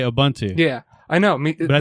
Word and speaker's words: Ubuntu: the word ubuntu but if i am talking about the linux distribution ubuntu i say ubuntu yeah i know but